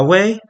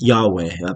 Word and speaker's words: Yahweh: in Hebrew um and this is Yahweh pronounced probably pronounced something like Yave um by the by the ancient um Israelites and the the writers of these documents.